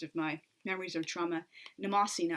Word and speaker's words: Mnemosyne: I believe that's the correct pronunciation, but I personally, of course, am partial to the Russian pronunciation, Mnemosyne. I just feel like it's makes more sense to me for the stress to fall on that syllable.